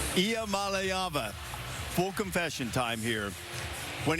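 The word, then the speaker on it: Iamaleava: The correct way to pronounce my last name is Ia Malava. Ia Mallaya.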